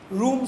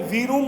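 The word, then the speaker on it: Vroom: तो ये जो थ्योरी है हमारे पास, ये रूम की थ्योरी है, और जो है इसको याद रखो, इसको आपने रूम पढ़ना है, वी रूम नहीं पढ़ना। तो उसका जो वी है वो साइलेंट है, जिस तरह कनाइफ का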